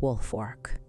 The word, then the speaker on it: Woolfolk: August 6, 1887, when Tom Woolfolk pronounced Woolfork, murdered 9 members of his family with an axe.